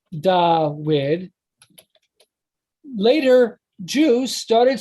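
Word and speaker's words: דוד: So for David, it was da wid. So that's how so it would be spelled DUD, but it'd be pronounced da-wid. And because it was pronounced da-wid, later Jews started spelling it da-wid.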